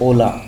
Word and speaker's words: hola: The H is silent. It is never pronounced. एच हमेशा silent रहता है और वो कभी भी नहीं बोला जाता। फॉर एग्जांपल हमारी जो ओला स्पेनिश क्लास है तो